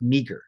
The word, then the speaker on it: meager: I said, but you're saying meager. It's pronounced meager.